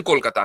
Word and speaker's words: कोलकाता: आप उसको बाकी रखते आप ने कोलकाता को कोलकाता कर दिया चकि उसका प्रोनाउंस कोलकाता है ना बंगाली प्रोनाउंस इवन आप आप